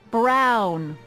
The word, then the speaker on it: Brown: bill to a t that's EMT Brown rhymes with clown which I'm beginning to